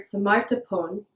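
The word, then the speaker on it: 스마트폰: Therefore in the word smapon the F sound in phone is pronounced as a P.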